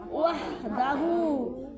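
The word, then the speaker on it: وَحْدَهُ: এটা হচ্ছে লা ইলাহা ইল্লাল্লাহু ওয়াহদাহু। ওয়া হাজবর কি হয়? ওয়াহ। ওয়ার সাথে হার উচ্চারণ। ওয়া হাজবর ওয়াহ। দাল জবর দা হা উল্টা বেশ হু। ওয়াহ দাহু।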